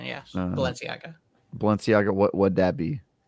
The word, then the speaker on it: Balenciaga: to write Balenciaga Ganon was making people thirsty valenciaga balena have no idea that is the correct pronunciation yes Balenciaga Balenciaga what what' that be I think it's